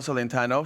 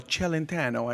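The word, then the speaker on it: Celentano: uh actually my friend Michelle centano she uh or I should say m Michelle chelentano I have you have to say it right she told me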